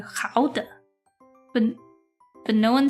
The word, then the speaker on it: Gouda: I don't know about you guys, but I learned the proper way to say Gouda, which is gouden.